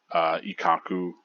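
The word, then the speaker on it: Ikkaku: I went with the pronunciation of E because that is how you would pronounce the I in Japanese. It's E, like Ichigo. Ikaku, Renji.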